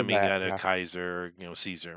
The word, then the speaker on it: Caesar: meaning and of course if you want to go with the Original Latin we say Caesar in English but it would have been it would have been Kaiser that would have been the Latin pronunciation much cooler Kaiser it